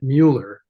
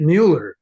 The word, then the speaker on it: Muller: hi this is Mueller I'm you know blah blah blah people still obsessively pronounce it mu and and I get